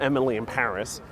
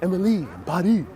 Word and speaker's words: Emily in Paris: A lot of people don't realize, but the title of that Netflix show is supposed to rhyme when you pronounce it in the typical Parisian accent. It's not Emily in Paris, it's Emily in Paris.